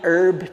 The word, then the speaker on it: herb: and by the way i say herb with an h because it's got an h okay you you you herb people the french say herb british say herb is either either oregano